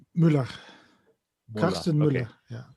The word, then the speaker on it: Müller: First is, of course, Dvoretsky's Endgame Manual was revised by Carsten Muller. Hmm. How do you say the name? Muller or Mueller? Müller, Muller.